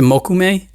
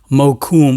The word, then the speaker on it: mokume: it mokume mo kum he likes to pronounce jeff because he's from new york he pronounces it mokume which is probably the correct way i'm not sure i say mokume because it just sounds so much more expensive that way but this is one